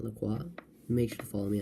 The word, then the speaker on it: LaCroix: Pronounced LaCroix, not LaCroix.